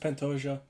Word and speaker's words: Pantoja: Or just Pantoja. You pronounce the J's because it's Portuguese.